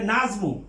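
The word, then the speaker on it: النجم: তারপরে নাজমু, আর নাজমু মানে তারকা, নুন হলো হরফে শামসিয়া, কাজে লামের উচ্চারিত হবে না।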